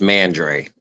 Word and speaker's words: Mandre: so it's it's pronounced mandre when when everybody sees it they want to say mandre because uh with the French pronunciation but it's actually uh just like it looks it's mandre okay so I said